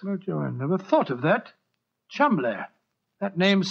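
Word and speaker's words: Cholmondeley: Being an American, he had no reason to know that the name Chumley is in no way pronounced the way it is spelt. But I never thought of that. Chumley.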